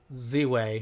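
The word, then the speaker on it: Ziwe: Anyway, furthermore, she recently did an interview with Z-Way, or I don't know, it's spelled Z-I-W-E, Z-Way. I'll pronounce it Z-Way.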